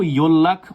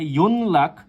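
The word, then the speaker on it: 연락: এটা কিন্তু ইয়োল্লাখ উচ্চারিত হবে, ইয়োল্লাখ। কেউ যদি উচ্চারণ করে ইয়ন লাখ, সেটা সম্পূর্ণরূপে ভুল, বা ইয়ন রাখ যদি উচ্চারণ করে সেটাও ভুল। এটা উচ্চারিত হবে ইয়োল্লাখ, ঠিক আছে।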